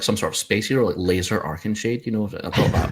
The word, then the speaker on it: Lasur: trying to dictate that I prefer laser myself just the pew-pew kind most people do yeah it sounds like some sort of space your laser arcing shade you know